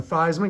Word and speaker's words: Theismann: They changed his name pronunciation to Theismann because it rhymed with Heisman.